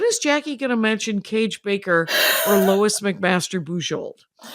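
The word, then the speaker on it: Kage: And Cage Baker is spelled with a K K A G- E. Baker is spelled like Baker. And then Lois McMaster Bold has a great arc.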